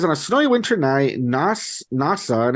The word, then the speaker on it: Nasa: It says on a snowy winter night, NASA, and it's spelled like NASA, like NASA, Nasa Yuzaki, a boy